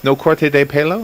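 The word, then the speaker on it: No corte de pelo: illustrations in no haircut how do you say the spanish one no corte yes no corte de palo is that how you say that yes i'm always careful about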